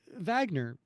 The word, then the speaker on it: Wagner: nine W because it's it's pronounced Vagner but it it's wa